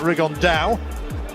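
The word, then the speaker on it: Rigondeaux: about fighting rigond though or as he's correctly pronounced with the uh the Spanish accent rig on Dao and oh two absolute Geniuses but it could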